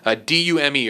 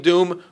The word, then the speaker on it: Dume: D-U-M-E or Dume, or I believe it's Doom. Caleb Doom, who his master was Master Depa Balaba.